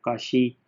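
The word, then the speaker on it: Cauchy: तो ये देखिए, अब काशी भी ये सी एच जो है वो शीन की आवाज़ दे रहा है, तो इसमें आपने कोई ज़्यादा परेशान नहीं होना, ठीक है जी।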